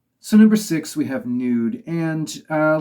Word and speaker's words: Nude: japanese soldier uh so i wondered if it was pronounced new day um to seem more like in in line with how one would pronounce the japanese word but uh you know i looked up a few other videos and everybody else seems to say nude so i guess i'm